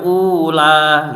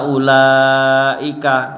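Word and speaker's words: أولئك: ulaika yang awal tadi, wa ulaika ini nggak boleh membacanya ula gitu. Jadi itu wawunya disukun, itu mati, seakan-akan tidak ada, maka disebut panjangnya di lam, wa ulaika gitu.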